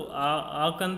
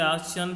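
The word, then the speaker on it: Aachen: एंड I followed in फरवरी, इसे देखो आचन या आखन भी बोलते हैं, मैंने जो प्रोनाउंसिएशन उसमें देखा तो आकन था, लेकिन इसे आचन भी बोल देते हैं, ठीक।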